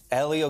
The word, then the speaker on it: Hélio: much oh my goodness i like the way you guys pronounce my name people sometimes call me hello julio hello which is okay which is okay but